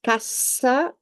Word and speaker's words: cassa: So double S between two vowels is pronounced S. Instead, one S between two vowels is pronounced Z.